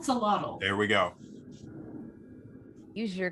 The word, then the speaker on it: axolotl: Someone pronounce it. Axolotl? Axolotl.